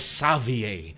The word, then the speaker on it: Xavier: that is Savier spelled as Xavier but it's pronounced as Savier.